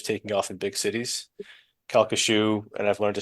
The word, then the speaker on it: Calcasieu: see these centers taking off in big cities kashu and I've learned to say it properly kashu Parish part of the shu is uh more